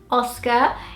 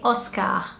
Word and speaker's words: Oscar: name in the UK, Oscar. In Brazil, we would say Oscar. So the inflection is different. Instead of being on the O, so Oscar in British English, we would say it in Portuguese, Oscar.